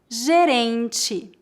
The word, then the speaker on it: gerente: Lembre-se que a vogal E é pronunciada como I em final de palavras.